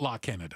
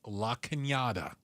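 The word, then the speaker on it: La Cañada: It's not La Canada. Okay. It's La Kenyatta.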